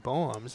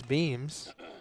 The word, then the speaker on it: Beams: I was saying Boems, but it is Beams.